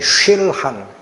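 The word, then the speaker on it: שֻׁלְחָן: 히브리어인데 술한이라는 거예요. 술한 조금 정확하게 쉴한 세는 바람 쉴한이 술한이라는이 단어인데 이게 사람이 먹는 밥상에 쓰이는 줄 제가 몰라요.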